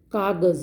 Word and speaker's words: कागज़: Kagaz means, see below ja dot is given, it is called nukta. So the pronunciation is z, not ja. Kagaz.